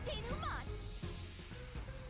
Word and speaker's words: denouement: Time for the deduction denouement.